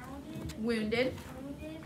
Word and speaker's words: wounded: to sin victoria wounded that a sounds like short u the rest of it that's a long u abilities so wounded is